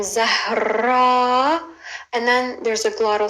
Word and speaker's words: Zahra: There's the letter Z, which we start with, Z. Then it's a short like Amelia, Z. And then it's a H, a very soft H. Then a rolling R, R. Then a long A as an Adam, Zahra.